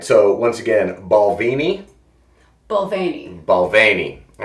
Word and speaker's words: Balvenie: You added a syllable. I did. Balvenie.